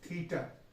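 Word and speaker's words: theta: कैसे इसका प्रोनाउंसिएशन करेंगे? थीटा।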